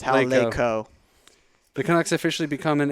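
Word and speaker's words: Laycoe: Oh, no, it's actually Hal Laco. That's how it's pronounced. Hal Laco.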